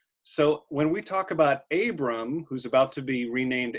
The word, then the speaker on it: Abram: So when we talk about Abram, who's about to be renamed Abraham, he is often called Avram also, because that B can be switched to a V, and it just depends